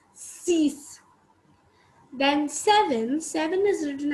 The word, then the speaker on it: six: six in english and in french we pronounce it as cease it's cease then seven seven is